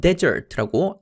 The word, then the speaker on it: desert: 디저트는 desert라고 발음하지만 사막은 desert라고 앞에 강세를 주어서 발음합니다.